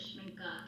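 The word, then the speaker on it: Schmincke: I think they pronounce it schminka, I think, but we say schminky here too. Oh, okay.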